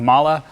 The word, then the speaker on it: MAHLE: founders of the company it's pronounced with a soft a at the end like mala but to be perfectly honest a big part of my business it just pronounces it Molly because that's so how